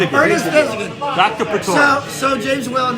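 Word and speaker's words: Ernest Thesiger: So Ernest, I've never heard his name actually pronounced that well. Thigson. Ernest Thesigan. Ernest Thesigan.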